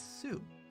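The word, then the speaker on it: ス: similar he says su pronounce it as su or like in the word soon or well sue the name or to sue someone for their money or super or suplex or soup yeah sue have a lot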